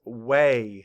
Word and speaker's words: weigh: Our next word is way. Say way. Map the sounds. W-A. Way. Spell it. W-E-I-G-H. Way. And let's write it. W-E-I-G-H. Of course, the sound we hear is A.